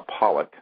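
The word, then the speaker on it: Pawelec: witness uh William John uh Pollock is how you say his last name although it's spelled p a wle c and this is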